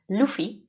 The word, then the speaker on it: Luffy: I think in German One Piece they call him Ruffy but in Lifeaction One Piece they call him Luffy which is how he's pronounced in Japanese.